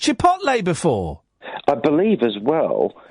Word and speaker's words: chipotle: How would you pronounce that? I say chipotle. Right, I would say chipotle.